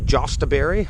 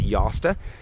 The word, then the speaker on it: Jostaberry: It's spelled J-O-S, so a lot of people say Jostaberry. I believe it's pronounced Josta.